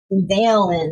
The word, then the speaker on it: Dalen: Dalen is how you say his name.